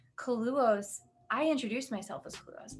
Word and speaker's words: Kaluohs: So I say Kaluohs, that's the way I pronounce it, because it's really just my last name spelled backwards.